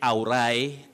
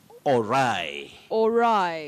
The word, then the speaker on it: all right: for tonight betty yes yes many people say aurai auri and all that you say all right all right all right the plan went all